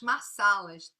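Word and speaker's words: masalas: e foi criado as massalas se escreve com s só mas se pronuncia sa massalas e que você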